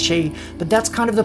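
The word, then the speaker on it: sidhe: dreaming and yes I know s is actually pronounced shade but that's kind of the point there's a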